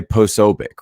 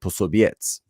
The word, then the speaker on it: Posobiec: So the C would actually be transliterated as like a TZ kind of sound. And so instead of Posobiec, actually in Polish, you would pronounce it Posobiec.